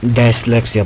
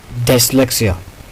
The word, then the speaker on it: dyslexia: हमारे जो ज़्यादातर स्टूडेंट्स है इसको डायस्लेक्सिया बोलते हैं. इसका वो जो असल जो इसकी प्रोनाउंसिएशन है डिसलेक्सिया. डिसलेक्सिया इसकी असल जो प्रोनाउंसिएशन है हम ज़्यादातर इसको डायस्लेक्सिया बोलते हैं. ये गलत है.